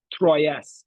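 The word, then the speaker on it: Troyes: In modern French in modern French the S is silent but in Raj's time they said it. They so was it was pronounced Troy.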